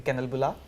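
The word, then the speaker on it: kanelbulle: which is the most famous thing or the kennel bola yeah did I pronounce it right you did yeah so that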